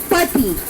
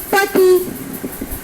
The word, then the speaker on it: petit: Okay, so pati, masculine plural, but here we are adding S at the end of this adjective and we are not changing the pronunciation of it.